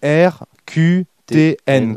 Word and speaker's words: RQTN: Donc ça s'écrit RQTN, comme les lettres.